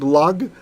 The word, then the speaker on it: Lag: Or you could just call it Like there's Lag BaOmer, the mystics celebrate on the 33rd, because it's Lamed Gimel, so it's pronounced Lag.